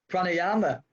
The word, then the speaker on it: pranayama: happens a Craig how do you say it pranayama yeah chronic running and meditation and just for